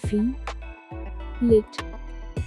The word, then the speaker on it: fillet: ingredient in many cuisines it is not fillet it is fillet fee lit fill it stress is on fee fill it fill it